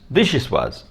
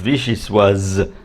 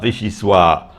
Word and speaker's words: vichyssoise: But there is an E on the end of vichyssoise, so you pronounce the Z. It's not vichyssoise.